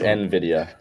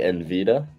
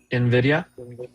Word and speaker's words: Nvidia: Let's ask everyone but Evan how to pronounce this because Evan's pronunciation I do Nvidia. Nvidia. Nvidia. No. Do you guys remember who used to say Envida?